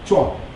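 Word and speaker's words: 壮: 근데 그거 안전하게 구분하기 위해서 글자도 다르고 발음도 다르기 때문에 항이라고 하는데 베트남어로는 아니 중국어로는 쫙입니다. 주 zhung 주앙 그래서이 주앙인데이 주앙 1800만 베트남의 낀 역사와 문화가 비슷해요.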